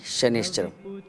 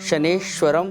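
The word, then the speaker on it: शनैश्चरम्: ज़्यादातर लोग शनेश्वरम प्रोनाउंसिएशन करते हैं, जो गलत है।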